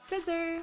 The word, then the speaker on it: Caesar: Caesar! (Pronounced like scissor) I hardly know her.